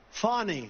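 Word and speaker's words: Fani: local cases like funny funny it's spelled Fanny it's spelled Fanny like your ass right fatty but when she became da she decided to add a little French little fancy fny hello and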